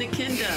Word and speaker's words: Echidna: Crimson Echidna. I know how to say Echidna now. Echidna.